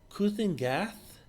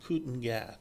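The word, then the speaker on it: Kulan Gath: and our foe is I think Ken gath I believe it's pronounced Cen gath I'm not 100% sure on that looks like um he's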